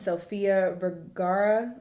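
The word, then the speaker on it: Sofía Vergara: definitely want to check uh this out and Sophia varara is how you say her name she's uh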